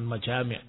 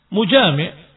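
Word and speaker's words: مجامع: Karena al-mujami', maaf, tadi bacanya salah, bukan majami', mujami', pelaku dari jima. Mujami', seorang yang berjima dengan istrinya, bersetubuh dengan istrinya.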